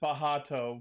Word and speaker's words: Bacht: nowhere like what's his name bucked booked they pronounced it bahato but it's spelled b-a-c-h-t so box okay so